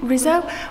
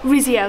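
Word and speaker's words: Rizzio: friends um david rizzo i think rizzo was was killed like rizio that's it i knew he was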